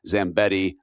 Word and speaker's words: Zambetti: a gentle named Kirk Zambetti. Kirk was on the executive team at uh at Yeti. And I realized funny sitting there if you listen to the podcast that Zambetti rhymes with Yeti.